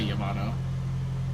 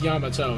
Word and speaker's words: Yamato: Sakuna Hakona has transfigured into Yamato. Yamato Takero. I think it's Yamato and not Yamato, but I always want to say Yamano. I think Yamato is actually how you're supposed to say it